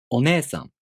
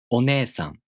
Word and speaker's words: お姉さん: For example, お姉さん. In this word, the E long vowel is represented by E. お姉さん.